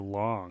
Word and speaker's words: Loong: means dragon in Chinese yes the transliteration although it's spelled kind of of oddly they've introduced it as l o o n g l o o n g but the word is long so it should only